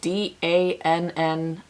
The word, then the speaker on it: Dannii: This next polish is called Dannii, which by the way is spelled D-A-N-N-I-I.